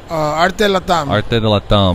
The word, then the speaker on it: ArteLatAm: How do you pronounce it? ArteLatAm. ArteLatAm.